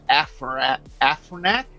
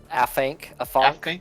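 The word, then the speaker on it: Afanc: For the animals that you will encounter here, there's the Afronac. Is that how you pronounce it? Afronac? Afank. Yeah, there's no R.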